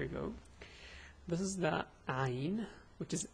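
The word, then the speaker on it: عين: So this is Ayn. The pronunciation is A, U, Ay. This is fast, let's go slow. A, U, Ay.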